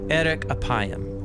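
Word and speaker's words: אֶרֶךְ אַפַּיִם: In Hebrew, the phrase slow to anger is pronounced erek apayim, or literally long of nose.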